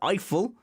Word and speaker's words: Eiffel: anyway it's a long story okay but it's eiffel everyone's pronounced it iphone the point is you and i have got